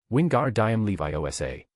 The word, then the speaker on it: Wingardium Leviosa: Your pronunciation is spot on, but your pauses are all wrong. Wingardium Leviosa. The pause has to be clear, Tom instructed patiently. Don't be afraid of going too slow, what matters is that every syllable is distinct. And the last word needs to rise in tone, like a crescendo, layered, uplifting. Tom explained in great detail.